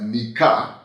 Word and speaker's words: Nikka: world I think uh it would be pronounced uh Nika nka Nika but in South Africa in some South African languages the Ks are pronounced as G's which could very well